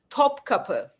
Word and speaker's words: Topkapı: If I'm saying it right, Topkapı manuscripts? Tupaki, Takap. I don't know how to pronounce it, Then, but it okay, says it here. I'll help you out, Mr. King, Mr. Muslim. Topkapı.